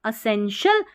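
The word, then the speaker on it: essential: अब ये TIAL है ना, इसको TL नहीं पढ़ना है, शीयल पढ़ना है या शल पढ़ देना है, ठीक है। असेंशियल या असेंशियल, असेंशियल या असेंशियल, ठीक है।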